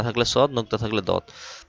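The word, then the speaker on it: ض: নুক্তা না থাকলে সদ, নুক্তা থাকলে দদ। ত য ত এর উচ্চারণ মোটা করে ত আর য এটা যেহেবার আগা দাঁত সামনের উপরে দুই দাতের আগার সাথে লাগিয়ে উচ্চারণ করতে হবে।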